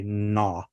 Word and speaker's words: gnaw: You don't say gna or gnat, you say gnaw, gnat, gnarly, or gnash.